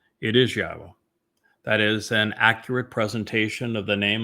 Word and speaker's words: Yahweh: It is Yahweh.